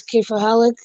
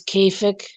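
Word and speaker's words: كيف حالك: They like I think the real pronunciation is K for Halak, but I think when they're just saying it, those that actually speak the language, the slang is Kafik.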